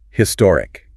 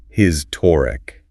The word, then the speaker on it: historic: And one more that's often mispronounced. Historic. Historic.